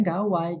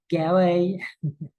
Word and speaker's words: gawai: kata gadget jadi gawai dia bacanya gawai ga Wai jangan gawe bukan seperti itu cara bacanya termasuk juga khatam misalnya